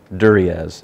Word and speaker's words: Duriez: It's written by a professional biographer, Colin Duriez, I believe it's pronounced.